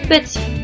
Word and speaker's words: petit: Si nous nous fions à l'oral, le mot petit s'écrit P-E-T-I. Petit. Par contre, le mot se termine avec un T. P-E-T-I-T. Donc, ce deuxième T est une lettre muette.